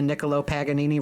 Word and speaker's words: Niccolo Paganini: This is Niccolo Paganini. Sounds like a sandwich. Oh my God, I would eat a Niccolo Paganini right now.